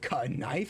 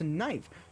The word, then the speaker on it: knife: No, it's not pronounced c knife. It's pronounced knife.